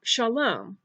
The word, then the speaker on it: Shalom: shin is the first letter in the word Shalom which means peace shin Komets lumidee : love